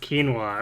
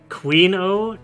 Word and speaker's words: quinoa: Oh, it's pronounced quinoa. Okay, well I just mispronounced it too, so... She'll say things like Queen-O and Quinoa.